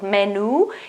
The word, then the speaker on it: menù: First of all, menu is a strange word with an accent on the final U, okay? So pay attention to the pronunciation. It's not menu or menu, it's menu, menu, menu with the accent on the U.